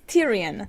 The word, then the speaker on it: Tyrion: Last week, he didn't even think of the dragon glass until after Tyrion suggested it. Why do you keep pronouncing these names wrong? It's Tyrion.